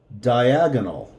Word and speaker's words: diagonal: spelling as in Spanish the only thing is the pronunciation so die ah gah no diagonal instead of the Iguana its diagonal diagonal okay okay I've got